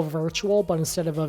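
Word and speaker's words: Wirtual: So it's literally the way you spell virtual, but instead of a V, it's a W. Uh, he's Norwegian, so I just I guess they like they pronounce their W's as V's.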